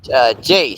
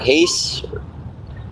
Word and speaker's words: Jace: Oh, hey, Jace. Sorry, it's or Ace. Ace. I'll call you Ace. Okay. So the J is silent.